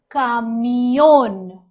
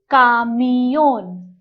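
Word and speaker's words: camión: a truck in spanish a truck is called kamiyon that's a kamiyon i'll repeat it kamiyun that's a truck with an accent on the alphabet o so we have to stress it that's a truck in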